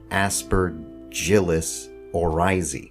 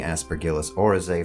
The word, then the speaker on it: Aspergillus oryzae: Aspergillus oryzae, which I learned today is actually pronounced Aspergillus oryzae. But I'm not going to say it like that because I've been saying Aspergillus oryzae for a long time, and I'd be stumbling all over myself if I tried.